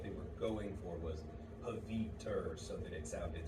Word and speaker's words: Pavitr: for a minute, because in the movie they pronounce it a lot closer to Pavitra, And that is because there is a real Indian name, Pavitra. There is not a real person's name, Pavitr.